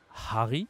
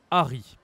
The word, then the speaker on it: Harry: We don't say Harry in French, we say Harry.